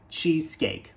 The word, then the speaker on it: cheesecake: que no final então ao invés de falar x e nós devemos pronunciar cheesecake cheesecake cheesecake e continuando na família